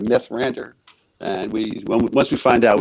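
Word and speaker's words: Mithrandir: We didn't really know too much about it, and I guess we probably misheard it as Mirthrandir instead of Mythrandir.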